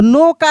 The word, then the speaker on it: knock: इसके बाद देखिए यहाँ पे KNOCK, क्या पढ़ेंगे? नॉक। देखिए यहाँ पर भी के लिखा गया है लेकिन के को पढ़ा नहीं जा रहा है।